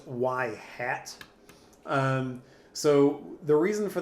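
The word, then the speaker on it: ŷ: top like right there that's usually pronounced y hat um so the reason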